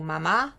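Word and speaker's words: mamá: qui veut dire sain et le mot Mama avec l'accent sur la deuxième syllabe qui veut dire maman alors ce qui est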